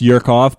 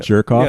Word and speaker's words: Jerkoff: It's Igor Jerkoff. But it's pronounced Yerkoff, but all the kids, because you've moved to Canada, call it Jerkoff.